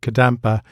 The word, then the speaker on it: Kadam: It's great that it rhymes with your name, isn't it?